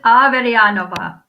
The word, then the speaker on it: Averyanova: so much michelle so it's uh i'm avedyanova it's my husband my russian husband's last name